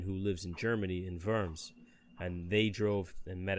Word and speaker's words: Worms: Verdun, we drove all the way out there to meet my wife's friend who lives in Germany in Worms.